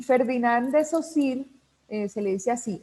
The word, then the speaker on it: Saussure: saussure y ferdinand de saussure excelencia si hay mucha gente que lo pronuncia saw sure socio le dicen de muchas maneras pero la forma correcta de llamarlo es ferdinand de esos hijos es el padre de